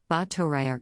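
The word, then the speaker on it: Báthory: elizabeth bottery dext hungarian the thori air shabbat pronounced battoria ebt slovak alsbada bettoriova august 7 1560 august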